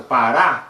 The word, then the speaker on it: pará: Se fosse para, não seria acentuada, né? Para, porque o urá, né? Seria a sílaba mais fraca. Mas como urá, aqui nesse caso, pará, é a sílaba mais forte, ele vai ser acentuado.